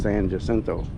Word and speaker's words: San Jacinto: Well, today we are in San Hento Battleground area. Otherwise, some people pronounce it as San Jasento.